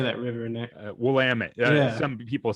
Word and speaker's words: Willamette: Willamette.